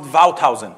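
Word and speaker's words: Wouthuysen: in Amsterdam about this is a Dutch name you should pronounce it vowed housing I didn't know this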